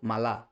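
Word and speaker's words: malo: তেমনি খারাপ হচ্ছে মালো মালা ঠিক আছে খারাপ তার গ্রান্দে গ্রান্দে অর্থাৎ বড় এখানে মালোর ক্ষেত্রে এমফাসাইজটা মা হচ্ছে মালো মালা রাইট এখানে বুয়েনো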